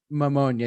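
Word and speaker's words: Mamunia: let me roll it I never know how to pronounce this but pneumonia I think it sounds like pneumonia but it's pneumonia yeah that's what it is uh no words and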